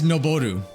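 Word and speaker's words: 上る: It's noboru. Like, why? If this is ageru, why is this not aru? Right? That just makes sense, but no. This is noboru.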